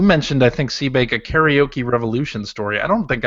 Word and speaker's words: karaoke: it's karaoke when I say it. It's the American pronunciation is karaoke.